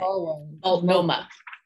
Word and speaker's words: Multnomah: equity lens review process in how do you pronounce the name of that county, by the way? Multnomah.